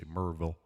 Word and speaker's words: Maryville: It's spelled Maryville, but if you're down here, you say it like you've got some, like you ate a couple of Bit Honeys and somebody asked you the name of the town. You say Maryville.